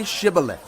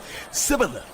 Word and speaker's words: Shibboleth: All right, say Shibboleth. If he said, Sibboleth. because he could not pronounce the word correctly, they seized him and killed him at the fords of the Jordan.